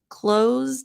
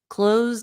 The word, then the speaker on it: close: your your English pronunciation close down so the S the E is silent the S sounds like a z close down CL close so